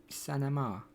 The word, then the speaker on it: Sonoma: Is how you pronounce it. Sonoma.